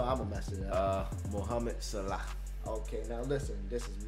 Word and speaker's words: Mohamed Salah: Mohamed Salah.